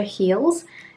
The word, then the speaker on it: Heals: Then we have something from the brand Pure Heals, and it's Heals spelled like H-E-A-L-S, which is like healing something rather than anything else.